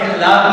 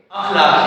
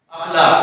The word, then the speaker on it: اخلاق: لفظ استعمال کرتا ہے، حالانکہ لفظ اخلاق نہیں ہے، اخلاق ہے، اخلاق، اس کے اخلاق بہت اچھے ہیں، ٹھیک ہے؟